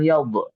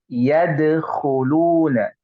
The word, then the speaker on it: يدخلون: Nah, bukan yaub, tapi yadkhuluna.